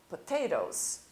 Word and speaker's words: potatoes: Potato, potatoes, batatas. Terminamos com a letra O. Você não precisa pronunciar a letra E, apenas escrevê-la. Potatoes, tomatoes, ok?